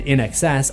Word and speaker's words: INXS: The name of the band, In Excess, also feels significant because the pronunciation is a phonetic play on the words in excess.